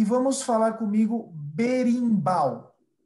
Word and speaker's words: berimbau: muito bem caxixi ok e vamos falar comigo berimbau berimbau muito bem berimbau perfeito e a última atabaque